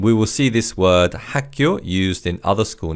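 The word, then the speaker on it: 학교: And this in Korean is hako. Haku. The word hack means knowledge and cure means school. And we will see this word hako used in other school names such as primary school and high school.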